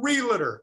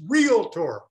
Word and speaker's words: realtor: mispronounced not the most it's the second most mispronounced the first leads by a mile what is it realtor the word is not realtor it's realtor now we all know that but how many